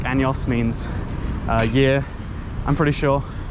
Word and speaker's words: años: Also, my Spanish teacher said say años, not años, because años is something else.